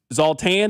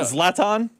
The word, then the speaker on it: Zlatan: It's Zaltan. Is that how you pronounce his name? The guy in the Fox group. Yeah. Zlatan.